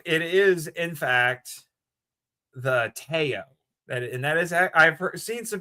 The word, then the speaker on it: Teo: It is in fact the Teo. That is, I've seen some people who posted online, including our friend Jeff Gomez, made it abundantly clear that is how it is pronounced. It is Teo.